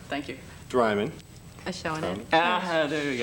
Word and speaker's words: Adjchavanich: Adjchavanich. There you How do go. you say it? Adjchavanich. See, she can't even pronounce it.